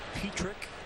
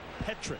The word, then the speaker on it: Petrick: By the way, it is pronounced Petrick. I asked him today. You would think maybe Petrick, but it is Petrick, just like it's spelled. P-E-T-R-I-C-K.